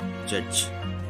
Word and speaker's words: judge: The D sound of D is usually not pronounced when the letter D is followed by GE. There are so many words like pledge, dodge, grudge, judge, etc., where we do not pronounce D.